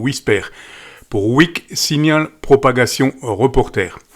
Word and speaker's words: WSPR: qu'est-ce que c'est que WPR qui se prononce au Wisper.